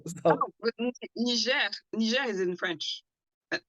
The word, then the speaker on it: Niger: I've always wondered how it was pronounced. Niger? Yeah, because I heard some people say it's like Niger or something, like, so. Oh, but Niger.